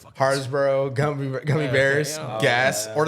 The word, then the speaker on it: Haribo: Harsbro. Yeah, Haribo.